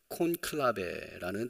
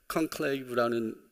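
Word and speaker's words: conclave: 이태리식 또한 라틴어식 발음으로 콘클라베라는 단어를 들어봤습니다. 영어로는 클레브라는 단어인데 비밀스러운 투표 새로운 교황이 선출되는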